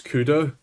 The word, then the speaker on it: CUDA: The correct way to say cuda is cuda. One video in the span of like two minutes said ka ka kada ka and it's like also Jensen